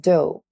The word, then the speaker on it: dough: Silent GH, like dough, and we use the dough in baking, like to make pizza and others kind of bakery.